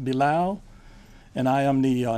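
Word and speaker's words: Bilal: my name is Bal spelled last name b i l a l pronounced below and I am the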